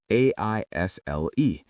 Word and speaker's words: aisle: A-I-S-L-E. The S is silent.